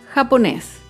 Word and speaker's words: japonés: Otro ejemplo con la palabra japonés. Japonés es una palabra aguda. Se acentúa en la última sílaba y lleva tilde porque termina en la consonante S.